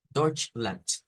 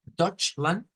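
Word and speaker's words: Deutschland: belen le escucho pronunciemos dutchland d Lan quiero corregirle algo porque ya van varias veces usted me mete una u acá usted dice algo como y no lleva esa u es solo la Ho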